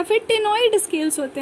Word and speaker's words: ctenoid: टेनॉइड में फिर देख लो सी है ना, सी साइलेंट है, CTENOID।